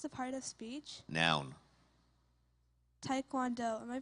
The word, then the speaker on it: taekwondo: Taekwondo. Am I pronouncing it correctly?